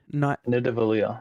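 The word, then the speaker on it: Nidavellir: Is it Nidavalia? No, it's Navalia. Nidavalia. I was close. That's kind of what I said. Navalia. That's how they pronounce it in Thor.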